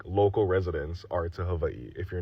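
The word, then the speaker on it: Hawaiʻi: And before you guys come for me for my pronunciation of Hawaii, that is literally how you pronounce it. You guys pronounce it however you want to pronounce it, but I'm going to pronounce it correctly.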